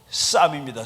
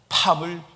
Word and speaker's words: Psalm: 여러분 저 영어 성경책 중에 시편이 영어로 쌈입니다. 쌈. PSALM. 그래서 그냥 P는 발음 안 해서 쌈이라고 읽어요. 그런데 바이든이 나는 팜을 즐겁게 읽습니다. 그래서 팜을 읽는데 팜이라는 성경책은 없어요. 쌈입니다. 시편.